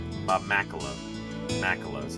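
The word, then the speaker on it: Makela: to go bone hunting with his friend Bob Michaela. Bob Melo. Macelo is how you pronounce it.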